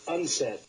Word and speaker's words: UNCED: Nations committee for environment and development it is pronounced unsa Mai strong has suggested an ominous scenario at